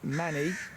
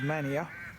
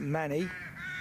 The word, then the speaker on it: Manea: see I'm out in place called Manny which uh I was incorrectly pronouncing as Mania but Manny Cambridge Shire fenlands one stopped